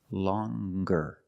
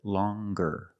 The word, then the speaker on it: longer: But then you have longer, where we have the hard g sound. Longer. With the nasal sound plus the hard g. Longer.